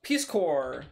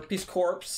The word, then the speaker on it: Peace Corps: type Peace Corps or Peace corpse if we wanted to spell it out the way or say the way it's spelled basically its Peace corpse guv which I believe